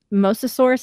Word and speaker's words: Mosasaurus: they kenneth and gary said that on the mosasaurus is that how you pronounce it roll yep um that the the